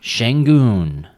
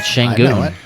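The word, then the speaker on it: Şengün: do have one more I've got shenon now most of you probably don't know who shenon is is that how you say it yeah Shang I know him um for the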